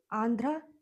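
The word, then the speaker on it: Andhra: आंध्र Pradesh N डी एच आर ए आंध्रा पढ़ सकते हो अगर प्रोनाउंस करने के लिए आंध्रा प्रदेश। ठीक है? प्रदेश हिंदी में आंध्र बोलते हैं। इंग्लिश में आप इसे सिर्फ प्रोनाउंस करिए। आंध्रा। तो इससे स्पेलिंग आपका हो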